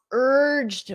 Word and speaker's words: urged: repeat after me urged d d with a very soft D urged urged my boss